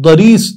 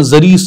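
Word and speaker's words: ضریس: داد را یا سین، داد کو عام طور پہ زاد بھی پڑھتے ہیں، زریس یا دریس جو بھی آپ اپنے تلفظ میں کہیں، دریس، اس گھوڑے کو اس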